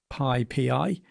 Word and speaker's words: PyPI: Now, I call it PyPI, although it's pronounced PyPI.